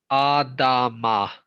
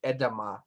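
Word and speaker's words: adamah: So, like, pronounce this word right here. Okay, so this is Adama. Adama. Yeah. Or you would probably actually say it shorter, edama, but it's good enough.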